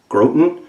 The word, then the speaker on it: Groton: submarine it came from Groton Connecticut I think is how you say it G ro t o n grote n' 1954 when she cast